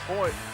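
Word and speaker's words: Royce: names and it's pronounced Hoy uh uh uh H. The Rs are H's. It's Portuguese from Brazil.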